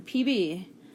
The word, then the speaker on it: Pb: and the last one PB you may say it's peanut butter but it's not is actually Lud why is it PV because in a different language that is how you say Lud alright so as we